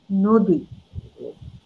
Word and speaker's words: নদী: ওকারান্তে হবে যেমন ধরেন আমি লিখেছি নদী কিন্তু আমি কিন্তু উচ্চারণ করি নদী আমি লিখেছি অভিধান আমি